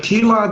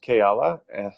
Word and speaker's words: Keala: Keela, then Sue. Thank you, Nenad. Yeah, pronounced Keala. Keala, okay. Good to see some familiar folks.